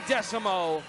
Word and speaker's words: Desamot: Darlie Desamot, baby, don't you dare forget the T is silent.